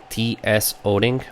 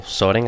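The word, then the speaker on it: Tsoding: One of them, and I'm going to make a public shout out, is T.S. Oding, or Soding, I believe it's pronounced.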